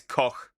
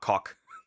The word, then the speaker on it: Koch: It's not Coke, by the way. It's Koch. Like cook. If you want a literal translation, it's Ilse Koch. But yeah, it's Koch, not cock.